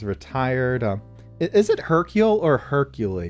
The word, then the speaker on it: Hercule: Is it Hercule or Hercule? Because it's Hercule, yeah. It's French, so they don't pronounce any of those vowels or anything.